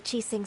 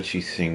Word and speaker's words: Qixing: As expected of a Qixing member, he's actually helping Ganyu. Let's move then, to Yuhai Pavilion. Really gotta get used to that X being pronounced like an S.